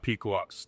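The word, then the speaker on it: Pequod's: If you're ever in Chicago, Pequot's. That's please. Yes, Pequot's. Pequot's. Say that what? So how do you spell it?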